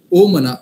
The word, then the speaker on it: ओम: गुण सांगितली तीच व्हायब्रेशन ओम मध्ये आहे ओमकाराचा स्पेलिंग आपण ओएम लिहितो पण ओमकाराचा जर स्पेलिंग बघायचं गेलं तर ए यु एम आहे ओम ओम म्हणजे अकार उकार मकार आता ना जर तुम्हाला